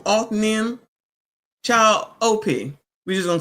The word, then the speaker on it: Othniel: Child, I've been saying the name wrong. Othniel.